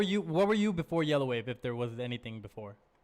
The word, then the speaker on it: Yellawave: love that yeah um did you want it to be pronounced yellow wave or yellow of ave like when you first thought yeah well at first it was it was uh my name was just gonna be like yellow ave okay separately but then